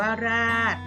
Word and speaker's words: ราษฎร: ค่ะ ราด อ่าน ว่า ราด คำ นี้ โดย ชฎา กับ รอ เรือ เป็น ตัว การันต์ เรา จะ ไม่ ออก เสียง นะ คะ ราษฎร คำ นี้ ไม่